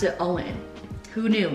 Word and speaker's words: OWYN: y n only what you need but they pronounce it all in who knew not me so i'm really excited